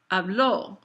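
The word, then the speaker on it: habló: show that it's stressed I want you to think about the fact that I speak is said hablo h-a-b-l-o but he spoke is ablo the accent on the o makes you then emphasize that final syllable so if I say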